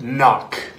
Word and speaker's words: knock: and spell the word knock spell the word knock knock no there's a k you don't see how just because you can't hear the K doesn't mean it's not there spell it with a